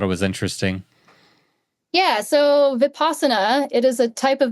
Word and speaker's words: Vipassana: really interesting, and I'll see if I can pronounce this correctly. It's Vipassana course, a Vipassana course. Mm-hmm. Yeah. Is that correct? Yeah. Vipassana.